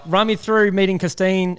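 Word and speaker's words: Costeen: Like, run me through meeting Costine. How do you say it? Costine? Yeah, Costine. Yeah, Costine. Run me through. That was really, really, really good pronunciation, to be honest.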